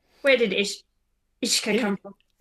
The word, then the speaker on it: Uisce: I like Ishka. It's good. And it's, you know, the usual Irish spelling that you can't figure out how to pronounce it from how it's written.